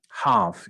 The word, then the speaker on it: half: Half, you don't speak the L.